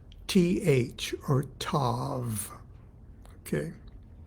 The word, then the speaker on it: Tav: Hebrew letter TH or Tav okay to pronounce Tav you have to stick your tongue under your front teeth top front teeth and in order to